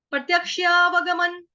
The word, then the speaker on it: प्रत्यक्षावगमं: यक्षा, प्रत्यक्षा, प्रत्यक्षा, प्रत्यक्षा, उसके बाद वगमन, वग, व पूरा, ग पूरा, म पूरा, म के ऊपर चंद्रबिंदु, सॉरी डॉट, उसका उच्चारण हलंत न, प्रत्यक्षावगमन धर्म्यम, सुसुखं, सुसुखं, कर्तुमव्ययम,